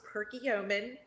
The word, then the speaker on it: Perkiomen: of chose us uh it's perky omen valley brewery just just like it's spelled per kilometer valley brewery